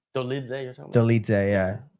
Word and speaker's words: Dolidze: Like, but that's the thing is like, I think, credit to Dolice, yeah. That's how you say his name. Like, Dolidze, you're talking about?